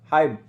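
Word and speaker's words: hymn: गीत को बोलते हैं हाइम, इसको एन साइलेंट रहता है, हाइम पढ़ा जाता है, ऐसे हाइम में भी पढ़ सकते हो, कोई दिक्कत नहीं है।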